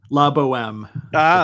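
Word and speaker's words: La Bohème: La Boheme.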